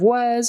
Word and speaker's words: was: Okay, and on the end of was, again, on the end of was, that's a Z sound, even though it's spelled with an S.